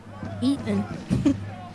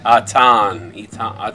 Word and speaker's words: Etan: Is it pronounced Ethan or is it just Eaton? I didn't see no H there. Maybe it's Etan. Etan. Etan Letterman. David Letterman? I mean, he is from Israel, so Oh. it is quite Nice. possible. I always say What time it is there? Eaton. Atan. Atan? Atan. On. So we were saying it wrong anyway. So It's not even with the E.